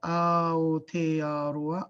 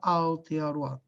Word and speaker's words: Aotearoa: And the best way to pronounce Aotearoa, we run them together. Aotearoa, Aotearoa, Aotearoa.